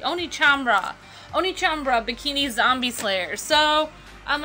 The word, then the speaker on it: OneChanbara: name again H chambra Oni chambra I'm sorry I thought the first letter was a c Oni chamra Oni chambra bikini Zombie Slayer so